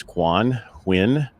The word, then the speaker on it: Quan Huynh: comes from our greatest failures today's guest is quan win and let's welcome him and get to know